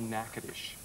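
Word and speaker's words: Natchitoches: three and half month it's called nacadish nadish nacadish it's sort of a North Louisiana pronunciation of a French spelling of an Indian word so and it's spelled nachoes it's very confusing well it became kind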